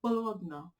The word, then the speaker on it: Bologna: It's Bologna.